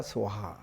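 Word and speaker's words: स्वाहा: 원 산스크리트는 옴 사르와 붓다 보디사트와야 스와하. 옴 그 기원합니다.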